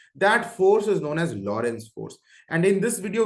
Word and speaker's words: Lorentz: जान लो लिख लो इसको लौरेंस ए साइलेंट है यू कैन say Lawrence Lawrence Lawrence force का डेफिनेशन